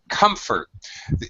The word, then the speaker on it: comfort: English this one Comfort it's an exception because normally two syllable or two vowel sound uh verbs really most of the time I don't know 96 98% of the time usually the stressed syllable is the second syllable which is what you